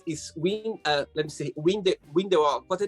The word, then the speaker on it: Windhoek: is let me see, Windhoek. What's the name of the capital? What the pronunciation? Like Windhoek. Windhoek. Windhoek. Yes. You need to put a German swing on it. Windhoek.